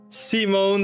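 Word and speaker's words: Σίμων: Omega new so seone seimone this one pretty simple seimone it's it's spelled and sounds just like we would say it in English well sounds almost like we'd say it English it's like fairly close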